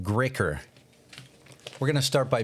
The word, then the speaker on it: GREÅKER: I believe this is pronounced GREÅKER.